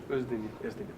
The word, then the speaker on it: Oezdemir: Puis comment vous prononcez votre nom de famille? Oezdemir.